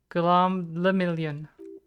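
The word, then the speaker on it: Guillaume Le Million: For Revacol, your city, that meant only one thing: Gulam le Million. If it doesn't rhyme, you're not pronouncing it right.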